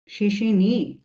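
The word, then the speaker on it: 谢谢你: কত number ton বলেন শেষে নিড হ্যাঁ থার্ড সো শেষে নিটা মাস্ট বি আপনি একটা ভি শেপ উঠাবেন আপনার ইয়েতে ফুল একটা আপনার উচ্চারণে ফুল ভি শেপ উঠাবেন হ্যা সো শেষেনি শুনতে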